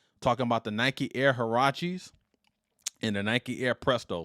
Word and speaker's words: Huarache: It looks like Huarache or Huarache. What does that word mean? Actually, it's from, I want to make sure I pronounce this right, Huarache, which translates in English to sandal.